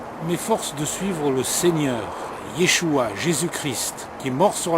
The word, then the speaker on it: Yeshua: Mais Yeshua, c'est le nom de Jésus en hébreu, et c'est comme ça qu'on le prononce.